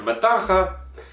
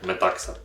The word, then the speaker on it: Metaxa: зрозуміти що те що я хочу його читати як метаха неправильно читається він як ми такса 12-й рік так такий